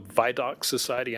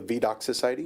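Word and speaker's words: Vidocq Society: It may have been online called the Vaidox Society. I may be pronouncing that wrong. Is that right? It's called the Voc Society.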